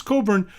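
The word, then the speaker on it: Cockburn: you for a Bruce Coburn it's spelled I think it's a french-canadian spell on its COC kb u RN cobra pronounced Coburn spelled COC KB you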